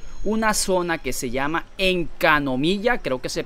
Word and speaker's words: Enkanomiya: Entonces la mecánica va a ser parecida, donde van a meter una zona que se llama Encanomilla, creo que se pronuncia así, Encanomilla.